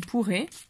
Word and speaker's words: pourrait: Aquí significa d'un coup de patte, eso es con una patada, podría, il pourrait, una A y una I se pronuncia E.